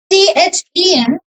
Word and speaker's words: then: This one THEN is then and THAN is than, ठीक है, then than.